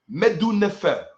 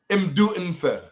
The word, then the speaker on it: Medu Nefer: Good speech, Medu Nefer. Or let me say it correctly, Imdu Nfer. Imdu Nfer. Okay? The correct way of saying it, Imdu Nfer.